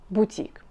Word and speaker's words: бутик: из французского языка и как во всех французских словах ударение падает на последний слог то есть бутик и внимание и ударение